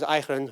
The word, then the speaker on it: Pygrunn: And the nice thing, of course, is Pygrunn rhymes with Nijbegun.